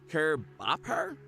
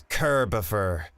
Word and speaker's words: Curbifer: Curb Bopper? Kier Gopher? Gopher? It's Curbifer.